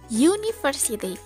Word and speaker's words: university: University berawalan huruf u Tapi ketika diucapkan dalam bahasa Inggris bunyinya menjadi University pengucapan huruf awalnya adalah Y bukan u yang mana huruf y